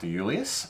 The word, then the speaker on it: Iuliis: So we've got a winemaker from the Hunter Valley called Iuliis, and hopefully I pronounced that correctly, considering how many I's are in his last name. It is pronounced correctly.